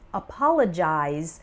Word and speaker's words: apologize: note the pronunciation difference apologize is the verb form and the final syllable sounds like eyes and apologies is the